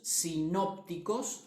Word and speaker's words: sinópticos: son conocidos como sinópticos los evangelios sinópticos acento en la voz son llamados así por